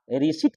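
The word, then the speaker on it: receipt: इस तरह से आप रिसीप्ट की बात करता हूं मैं जिसे हम लोग बोलता हूं रिसीप्ट इसको पढ़ लेते हैं हम लोग है रिसिप्ट रिसिप्ट पी साइलेंट है जबकि एकम प लिखने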